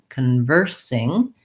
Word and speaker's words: conversing: So we have second syllable stress in conversing. So I'm going to write larger, conversing. And then, of course, we have just the sound sing at the end. We want to watch out that we use an I vowel and an NG sound with the back of the tongue lifting.